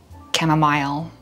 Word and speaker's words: chamomile: It's like caramel, caramel. I say chamomile. Some people say chamomile. I don't know what's right, but I'm gonna just say it the way I say it.